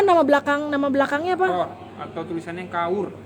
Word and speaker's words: Kaur: belakang Nama belakangnya apa Kaur Kaur Kaur dibacanya chord kord ertinya apa konsep Princess